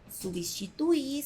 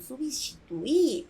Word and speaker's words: substituí: é totalmente ir regular substituir substituiu substituímos substituíram unicamente vamos acentuar a letra i para dar força aqui não se pronuncia eu substitui não eu substituí porque é passado uma coisa é você